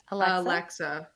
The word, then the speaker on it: Alexa: Alexa. There's 3 syllables.